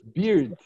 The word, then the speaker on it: beard: beers in the tent a beard okay the pronounciations beard all right all right Priscilla would you like